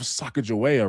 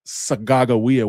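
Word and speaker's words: Sacagawea: Well, you probably heard of Sakajoua, right? Actually, her name is pronounced Sagawa, which is my language, which means birdwoman.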